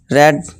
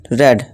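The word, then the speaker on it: read: रीड, रेड, रेड। इसका pronunciation आप ध्यान से देखनी है। इसको रीड नहीं, इसको रेड प्रोनाउंसिएशन करेंगे, ठीक है दोस्तों।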